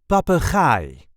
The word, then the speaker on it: papegaai: see how to pronounce papai or in English parrot. This is the way we say papai. Papa there is a light emphasis on the last syllable.